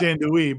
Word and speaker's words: andouille: me how andouille is really supposed to be pronounced, and I was like, Sean, it's part of the show now. Yeah. It's andouille, but all the different varieties, the jalapeno cheddar, which is a classic.